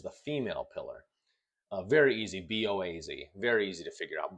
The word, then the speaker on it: Boaz: Very easy, B-O-A-Z, very easy to figure out, Boaz, as opposed to Jachin, which is either Jachin, or I've also seen it Jaochin.